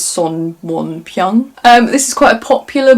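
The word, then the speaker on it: 손원평: Oh, and then I read Almond by Won Pyung Son, or if you're going to pronounce it the way it is in Korean, it's Son Won Pyung.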